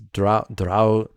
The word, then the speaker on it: Draugr: Draugr. But you have to roll both R's.